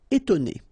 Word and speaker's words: étonner: Okay, so first you've got this accent aigu, et, and then you've got to, and then né. Étonner.